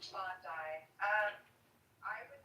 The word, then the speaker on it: Bondi: And they would say, "Go to Bondi Beach or Bondi Beach, however you pronounce it." Bondi.